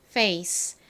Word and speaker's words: face: 그리고 a 그다음은요 c face 발음해 볼게요의 소리를 살려서 강하게 발음해 주세요 페 아닙니다 페 face 한 번 더